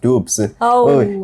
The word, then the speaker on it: Dubs: And then of course, Dubs, or just to show you how it's pronounced, it's actually pronounced Dubs.